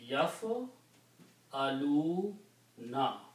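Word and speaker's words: يفعلون: So if we keep the three letters in the middle, it will be pronounced as yaf aluna.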